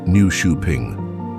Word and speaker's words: Nyköping: It's Newing, pronounced new shuing, a poetic coastal gem